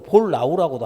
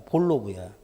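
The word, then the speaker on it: Bollnow: 그걸 모른다고 해도 본론어가 볼로브라고 해야 되는데 무식한 놈들이. 볼로브잖아요. NOW, 볼라우라고도 하면 안 돼. 독일어로 W는 V 발음이 나니까 볼로브야.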